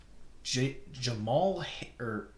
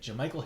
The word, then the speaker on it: Jamichael: The 49ers running back Jamichael Hasty. That's how you say it. Jamichael Hasty.